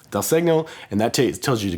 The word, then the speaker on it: segno: called dial signal or Del second pronounce it it's Italian Del segno and that tells you